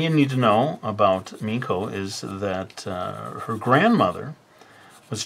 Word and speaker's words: Meiko: she was a child, they didn't know how to pronounce this in the Japanese fashion, which would be Meiko.